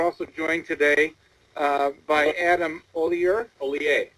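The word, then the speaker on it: Hollier: The H is silent. The IER makes an A sound.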